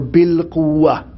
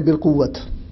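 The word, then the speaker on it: بالقوة: state of, obviously, potency, or what is called in Arabic, al-quwa or bil-quwa. In Urdu, we'll say bil-quwat. This is the Arabic word pronounced in an Indian Pakistani way.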